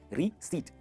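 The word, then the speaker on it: receipt: हमें मिलती है रिसीट। क्या मिलती है? रीसीट, रीसीट। इसमें जो पी है ना वो साइलेंट है।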